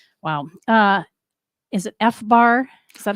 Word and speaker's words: FBAR: my fees right right wow uh is it fbar is that how I pronounce it F Bar yes that's an acronym